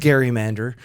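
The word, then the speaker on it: gerrymander: you know this was Jerry mandering has been around for centuries like 1812 I think is when the term is used it was actually originally pronounced Gary Mander uh because was named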